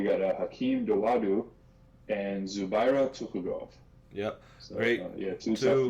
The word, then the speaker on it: Zubaira: yeah i mean uh zabar or how do you say his name is zubaira yeah zabara he's minus 115 as a favorite uh where hakeem is minus 105.